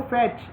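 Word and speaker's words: fiche: Micro फैच इज अ 4x6 इंच film sheet. Micro फैच जो है वो 4x6 इंच film sheet होता है। The word फैच is pronounce as फिश।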